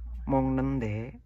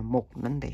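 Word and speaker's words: 먹는데: Mongnende bukan bacanya mognende ya, salah, ini dibaca ng, mongnende. Karena ini adalah hukum cara bahasa Korea, bukan mognende tapi mongnende bacanya.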